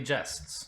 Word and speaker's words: jest: inverse adventure exploit Knightly jests guests actually how do you in pronounce it is it a softer RG it's a soft G jest interesting may be related